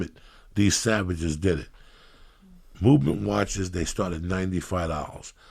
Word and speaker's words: MVMT: Anyway, but what Lee is sporting with all new fairness is a beautiful MVMT watch. Pronounced movement.